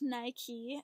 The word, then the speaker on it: Nike: actually comes from a Greek goddess of victory pronounced Nike and the Nikes first employee Jeff Johnson came